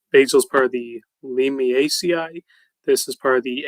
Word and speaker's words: Lamiaceae: Lamiaceae? No, Lamiaceae. It's part of the Lamiaceae herb family.